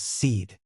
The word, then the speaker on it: Sid: Originally, I named the baby Sid, but on further thought, it makes more sense that its name is actually Sid, which is pronounced as seed.